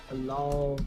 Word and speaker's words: Dalol: Dalal, Ethiopia. Oh, don't Gabe, you pronounced it correctly.